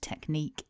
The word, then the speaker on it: technique: pronunciation of the word technique in English. Looking at the script from the dictionary, we can see that this is a two-syllable word and that the stress is on syllable 2.